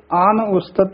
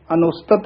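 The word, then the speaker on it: ਆਨ ਉਸਤਤਿ: आप रूप अमीक अन उस्तत आन उस्तत जिहड़ा पाठ है ए विच थोड़ी जी डैश दे के उच्चारण करना है। अनुस्तत नहीं कहना, आन उस्तत इस तरह बोलना है।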